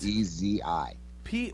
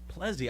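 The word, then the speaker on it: Plezi: Plezzi. One more time. I'm sorry. Spell it again. P as in Paul, L as in Larry, E, egg, Z, zebra, I, ice. Plezzy.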